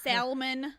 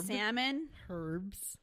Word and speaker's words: salmon: not time it's time it's not Salman her salmon it's not herbes unless